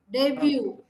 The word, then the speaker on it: debut: can see that oh I have highlighted all the sounds all the letters that are silent okay subtle Rendezvous debris debut Memoir okay plumber almond all the ones in marked in red are all silent cool okay right now